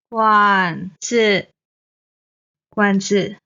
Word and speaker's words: 館子: Same 馆 is the third tone. 子 is the neutral tone. 馆子馆子 Okay, the father.